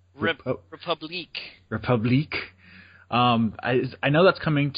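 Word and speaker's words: République: I can't even pronounce it. Republic, but with a Q. Republique.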